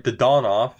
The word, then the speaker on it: Dadonov: of a player we had aad off Yuri dadonov if you're pronouncing it properly but I me come on it's YouTube you got to say Dad off right you have to we have a couple